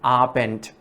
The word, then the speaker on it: Abend: Also in the end of Abend, it's ta. Guten Abend.